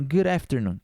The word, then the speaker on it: good afternoon: vai ser entendido mas provavelmente você vai encontrar esse good aqui com sutaque mais good good não falando praticamente esse D então Good afternoon good afternoon Inclusive essa passagem de D para a aqui você pode até colocar um rzinho Good afternoon good good tá vendo Good afternoon good afternoon good afternoon Ok você vai você vai escutar bastante esse sotaque assim esse D pro a virando um rzinho e esse good good